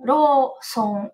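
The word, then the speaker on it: ローソン: gente acaba pronunciando mas o correto seria o RO com a o prolongamento né ro som R Som Quem confunde o soco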